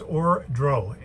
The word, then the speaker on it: Ordro: way just case i said it wrong it's or dro a-o-r-d-r-o wardrobe apologies if i said it wrong